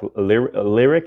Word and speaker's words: Lyriq: I mean, they did release this one teaser shot of the Cadillac Lyriq. Is that how you pronounce it? Yeah, the Lyriq.